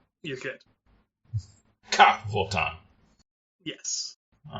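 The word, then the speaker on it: Ka'Vothan: So Cavotan is the race. Okay, cool. How do you spell that? It's Ka apostrophe Vothan. So I'm not doing the glottal stop well enough, I suppose. You're good. Cavotan.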